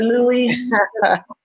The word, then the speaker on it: Luis: I love to say it like that, Luis.